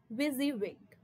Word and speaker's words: WYSIWYG: How do we pronounce it? WYSIWYG.